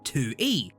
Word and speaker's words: Toullie: stop talking about it tuy it's pronounced Tu e is a self-proclaimed trash